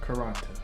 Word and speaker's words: Quaranta: Quaranta.